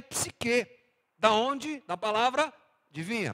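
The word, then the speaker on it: ψυχή: A outra palavra é a palavra psique, ou psirré, como se pronuncia melhor no grego. Para a gente é psique.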